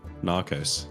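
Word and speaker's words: Gnaros: you call a campaign Naros but with a G like GN Naros silent G and then there yeah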